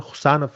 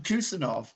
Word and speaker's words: Khusanov: I think in English they will Abdukodir Khusanov is the correct pronunciation. Anybody who needs, I mean, BBC or ITV or Sky Sports commentators, please come and ask me how to pronounce his name, because They're I all going to think be calling him Kusanov. yeah, Kusanov will be the name, which is not correct.